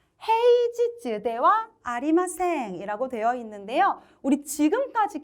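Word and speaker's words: 平日: 아시다와 헤이지즈대와 아리마생이라고 되어 있는데요. 우리 지금까지 계속 니찌로 읽었는데 처음 지즈로 읽는 음독이 등장했습니다. 그쵸? 그래서 헤이지즈, 평일은 헤이 니찌 아니고 헤이지즈라고 읽는다라고 생각해 주시면 돼요.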